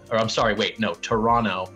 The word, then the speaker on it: Toronto: i'm sorry wait no toronto i'm not supposed to pronounce the second tee right toronto i've been told uh and i'm here